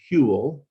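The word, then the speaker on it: Whewell: with strict christianity so now enter william hewell that's how you pronounce his name here huell huel he was a leading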